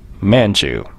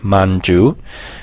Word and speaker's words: Manchu: adopted a new name manchu a quick side note it's actually pronounced more like Manju but I'll stick with the more familiar Manchu surprisingly enough we actually